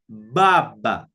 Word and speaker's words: baba: Now this B, in Swahili, we say B. So it will have the sound B, as in buck or bird, you see, buck or bird.